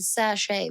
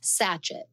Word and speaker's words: sachet: So if you have never heard that word sache before, you but you've read it before. It looks like the word satchet.